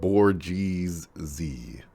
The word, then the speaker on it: bourgeoisie: See, I was actually kind of close. So that's how it's pronounced. Always said Bourgeoisie.